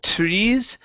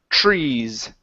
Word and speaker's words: trees: Instead of trees, give me a CHR. Trees.